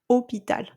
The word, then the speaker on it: hôpital: We don't have stress on syllables that like you have in English. So see that you say hotel, hospital. Okay, but we say hotel, hôpital.